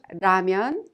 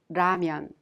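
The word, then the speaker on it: 라면: and the r sound so when you pronounce Raman it's not Raman or Laman it's Raman well at this time let's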